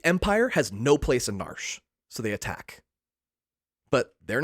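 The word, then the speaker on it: Narshe: The town is named Narsh. Being a prevoiceover game, there's some debate on how to pronounce it. Narsh. Nari Naria, but I grew up calling it Nar, so that's what I'm saying here today.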